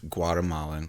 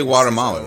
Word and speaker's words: Guatemala: Well, you say Guatemalan, right? Well, when you like the actual when you pronounce Guatemala, it's actually Guatemala, right? The actual Kinda Spanish like pronunciation is Guatemala.